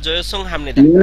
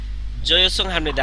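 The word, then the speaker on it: 죄송합니다: আর এখানে হচ্ছে হামনিদা, এটা আপনারা জানেন, এটা এর আগে পড়াইছি হামনিদা, শেষের যোগ জয়ে সং। হামনিদা। তাহলে জয়ে সং বাক হামনিদা, এখানে উচ্চারণ হচ্ছে জয়ে।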